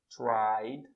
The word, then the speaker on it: tried: The boys tried. Mas a pronúncia é a mesma coisa. Try, eu só vou acrescentar. Try vibra. Se terminou com som de vogal, vibra. É só acrescentar o som do D.